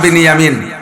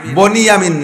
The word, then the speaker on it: বিনিয়ামিন: 2 ভাই, ইউসুফ আর বিনিয়ামিন। বনিয়ামিন না, একটু উচ্চারণ শেখেন। বিনিয়ামিন শব্দটা কি গন্ত? বিনিয়ামিন। আর বনিয়ামিন কেউ নাম রাখলে বনিয়ামিন বললেন, বিনিয়ামিন।